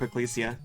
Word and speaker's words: Ecclesia: too and Order of Ecclesia that one's uh Belmont's favorite it's pronounced with a hard hard G I'll try to